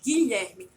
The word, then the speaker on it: Guilherme: G, Gilete, e com Gui, Guilherme. Olha a diferença da pronúncia. Olha o quanto o U entre G e I faz uma diferença nessa palavra.